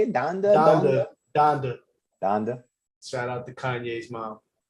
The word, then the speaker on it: Donda: Donda.